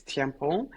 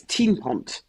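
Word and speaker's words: Thienpont: It's in French, it's Thiampont. In Flanders, which is our part of Belgium, it's Tienpont.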